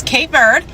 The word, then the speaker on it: Cape Verde: So, yeah, those are the two ways you could say it. You could say it in English, which is K bird, or you could say it in creu/P Portuguese, the Portuguese way. I don't know how to say it like sophisticated, guys. Okay, so I'm going to say it my way. It's going to be Kabu.